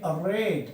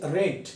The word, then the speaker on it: read: will be রিড রেড রেড আর ই এ ডি এখানে কিন্তু উচ্চারণ হচ্ছে রেড কিন্তু এখানে উচ্চারণ কি ছিল রিড he will রিড this